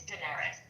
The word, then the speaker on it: Daenerys: so passionately and yet you're still saying her name wrong. He's saying both of their names wrong, but it's that doesn't matter. I know, but I just like it's Daenerys. Oh, Daenerys. Yes. I added extra syllable.